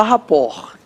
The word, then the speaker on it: rapport: francesa que se diz a rapport.